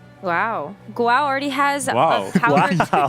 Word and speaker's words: Guao: It's actually Guao. 2 syllables.